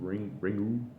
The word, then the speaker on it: Ringu: Ringu.